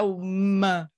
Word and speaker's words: Om: Então, começa com A, daí vai para o O, e depois tem a terceira sufixo, que é o M. M. Então, nós temos essas 3 coisas juntas aqui nessa sílaba Om. Isso representa o corpo iluminado,